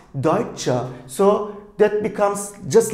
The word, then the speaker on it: Deutsche: cha Deitch here is pronounced not as daichan but Deutsche so that becomes just